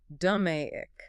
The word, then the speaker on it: DMAIC: That's spelled DMAIC. Pronounced "duh-may-ick".